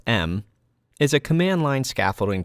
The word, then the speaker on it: em: the em tool pronounced m is a command line